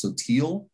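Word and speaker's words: Sottile: it's actually we got it's uh pronounced so uh and it's italian for shallow oh i will tell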